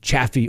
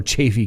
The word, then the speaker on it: Chaffee: media the proceedings in chaffee or chaffey county depending on how you pronounce it that's right so thank